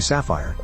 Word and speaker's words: Sapphire: There appears to be no etymological link between the two, and in both cases the first p is silent, or if you prefer, the pi is silent.